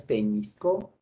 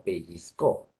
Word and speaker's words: pellizcó: No es peñiscó, sino pellizcó.